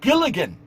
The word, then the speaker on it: Gilligan: Can you not pronounce English? Gilligan? It's Gilligan.